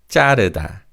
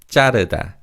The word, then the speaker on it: 자르다: Also, although it's written as 자르다 with a 지읒 in the first syllable, Koreans often pronounce this word as 자르다, 자르다. So they say 지읒 as a 쌍지읒. However, the correct way of pronouncing this word is 자르다.